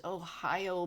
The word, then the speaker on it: OhAIo: And uh, yeah, I know it doesn't look like Ohio, but it actually is this thing that looks like an L is actually an I. So yeah, it is Ohio.